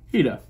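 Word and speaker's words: Hiita: Hita oh my God I always get her name wrong heeda that's right so six heater in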